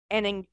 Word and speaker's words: anhinga: Since moving to Florida, Linda has helped save a great gray heron, anhinga? Is that how you anhinga.